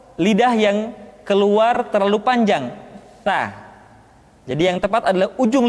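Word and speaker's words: ث: Sa dikeluarkan dengan menyentuhkan ujung lidah kita dengan dinding dua gigi seri bagian atas. Diucapkan dengan suara dan nafas yang terdengar mengalir.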